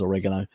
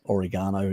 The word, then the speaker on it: oregano: whether it was um usually was oregano or oregano depending on how you want to pronounce it um and they